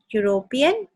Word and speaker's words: European: यूरोपियन ई से start होता है, यूरोप की स्पेलिंग में जब हम यूरोप लिखते हैं तो वो ई से स्टार्ट होता है, ई हमारा वॉवल है, लेकिन यहाँ पे ई साइलेंट होता है, ई की साउंड नहीं आ रही, हम उसे यूरोप बोलते हैं, यूरोप नहीं बोलते।